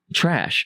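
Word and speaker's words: Chrash: All right, so it's Trash. And it's spelt very stupid. It's not spelt correctly, okay? And I always thought it was spelt phonetically. And then Evan Joe was like, that's wrong. And I'm like, cool, I'll listen to you, Evan. I'll listen to you. So it's C-H-R-A-S-H.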